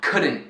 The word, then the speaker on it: couldn't: E encurtado formam com apóstrofo couldn't, wouldn't, shouldn't. E notem que eu não estou pronunciando o T no fim, né? Couldn't, shouldn't, wouldn't.